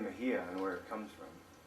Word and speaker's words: Mejia: But in some areas of Spain, the X sounds like an English H. The written was Mexia with X, but pronounced Mejia.